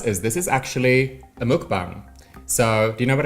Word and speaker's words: mukbang: Mukbang, like you spell it. Mukbang. M-U-K-B-A-N-G. Mukbang.